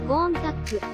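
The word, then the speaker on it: Countach: でランボルギーニは初めてその発音がゴーンカップとイタリア語では正式に発音されることにも触れ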